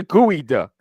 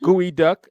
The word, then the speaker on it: geoduck: It's a gooey duck. It's pronounced gooey duck, even though it's spelled Geoduck.